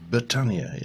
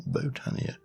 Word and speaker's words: Botania: Yeah, but it's just that way he pronounces Botania, and it's like, it's Botania, it's not Botania. You don't go to a botanical garden.